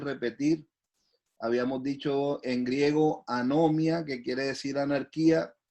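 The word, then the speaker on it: ἀνομία: Pero esta palabra, en el Nuevo Testamento, la palabra pecado o infracción viene del griego anomia, como lo estoy pronunciando, anomia, ¿ya?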